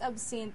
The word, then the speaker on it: Absynthe: h t n e ano talagang pronunciation nito It's absent Well it's a French name you It's abs s